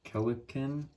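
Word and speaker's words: Kelenken: Forgive me if I'm pronouncing this wrong, but I believe it's pronounced Kelican. Yeah, Kelican. Kind of sounds like pelican.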